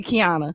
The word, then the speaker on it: Qiana: Uh when people look at my name, sometimes they can't pronounce it because it's the Q without the U.